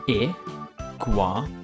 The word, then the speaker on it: Iguanodon: I-gua-na-don. How do you say that again? I-gua-na-don.